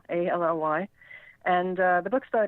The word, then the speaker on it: Mullally: last name Mullally, rhymes with Shillelagh, Mullally.